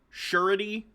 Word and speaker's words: surety: the payment of debt gotcha surety is how it's pronounced thank you i do